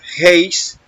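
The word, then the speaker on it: εἷς: Si vamos a la concordancia Strong, de idioma griego Strong, la G1520, esa palabra que aparece ahí como uno, se pronuncia heis y significa, dice aquí, numeral primario, uno o una.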